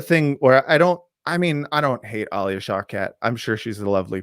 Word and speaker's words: Alia Shawkat: The opening of the movie starts with Alia Shawkat. Is that how you pronounce her name?